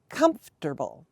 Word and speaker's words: comfortable: if English spelling weren't so weird the first syllable is C comble comforable comforable comfortable and one example could be my couch is